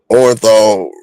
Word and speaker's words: Orenthal: Orenthal rhymes with Neanderthal.